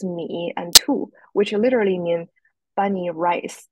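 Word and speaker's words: 米兔: And in the middle of this window are two Chinese characters pronounced as Mi and Tu, which literally mean bunny rice.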